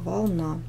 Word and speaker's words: волна: просто спишем волны волна у нас в первом слове ударение падает на первый слог волны во втором на второй слог волна И мы стрелочкой показываем